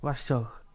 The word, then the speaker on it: wrestle: wrestle don't wrestle and the T as well is silent is it yeah wrestle